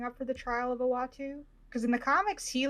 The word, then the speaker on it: Uatu: remember how to say his name ever it's uatu watcher thank you um i'm wondering if we're gearing up for the trial of owatu because in the comics he like does a